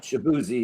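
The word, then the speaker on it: Shaboozey: Um I'm going to pronounce this completely wrong. Shabuzzi. Yep. Shabuzzi.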